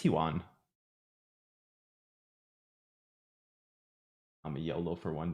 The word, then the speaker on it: yuan: that you won okay yuan is how you say it you won you went or you won i think it's huan i'm a yolo for